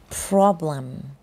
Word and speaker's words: problem: มี ปัญหา No Problem problem แปล ว่า ปัญหา นะ คะ ลอง ออก เสียง ดู นะ prop prop problem problem ไม่ ใช่ พม แพม นะ problem อ่ะ ที นี้ ไม่